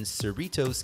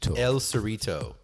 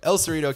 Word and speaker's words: El Cerrito: But now, finally, I am in Cerritos, California. Am I pronouncing that right? El Cerrito. It's not multiple. It's just one. No, just El. Just the Cerrito. El Cerrito, California, which is a town just north of Berkeley.